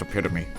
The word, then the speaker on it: epitome: It's pronounced epitome, just for your Epitome?